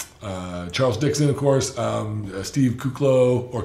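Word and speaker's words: Kuclo: Rafael Brandon Currie Charles Dixon of course steve coock low or couch low as you say is the proper way to pronounce it Josh aluminum its dominance Victor Martinez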